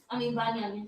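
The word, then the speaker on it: בנימין: Banyamin. God, name sound like fake Israelite over there. Ben Yazirel, that's what you sound like over there. So you got Banyamin.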